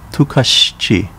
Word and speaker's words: Tokashiki: battle of okinawa began tokashiki pronounced tukashi in uchinanguchi aguni pronounced aguni in